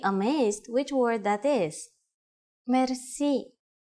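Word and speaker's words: мерси: you will be amazed which word that is merci merci Mercy is a long word from French but it is pronounced with a typical Bulgarian heart ra it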